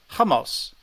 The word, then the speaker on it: hummus: I said yes um how you say it you don't say it like yeah okay that's hummus yeah hamos correct yeah okay okay great